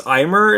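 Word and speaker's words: Aimer: is uh brave shine by i think it's imer is how you pronounce that that's how i'm gonna pronounce it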